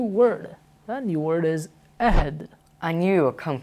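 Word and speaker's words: عهد: It's originally Arabic, and in its original language, it's pronounced ahd. In Urdu, it's pronounced ahd.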